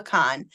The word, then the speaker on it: Kahan: I don't know if it's Khan or Kahan. It's spelled Kahan, but Noah Khan.